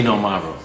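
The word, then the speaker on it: Xinomavro: not pronouncing it correctly Z Maro Z with an X but the x is always a z um a f to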